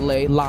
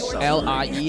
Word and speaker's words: Lei: Oh, sorry. Not Lee. His name is pronounc L I E. I think I I just call it lie.